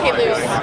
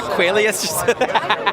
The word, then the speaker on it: Caylus: How do you pronounce the name of your winery? It's Domaine Caylus. Domaine Caylus. What did I call it? A Qualius?